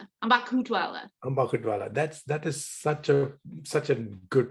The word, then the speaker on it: Ambakhutwala: It's Ambakhutwala. Ambakhutwala. That is such a good pronunciation of my name.